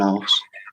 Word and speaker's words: arse: They call them an arse. But it means right. bottom. We say ass too, but I thought it's spelled ASS, and I know you have ARSE. Is it pronounced the same though? No. Arse.